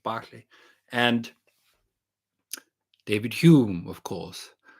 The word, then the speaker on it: Berkeley: so-called empiricists John Lock Bishop barklay not Berkeley as the Americans say Bishop Barkley and David Hume of